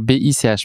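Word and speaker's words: Bich: Mais Bic, alors la petite nuance, c'est que ça s'appelle B-I-C-H. Mais bon, ça se prononce, j'imagine, à l'allemande. Donc c'est Bic.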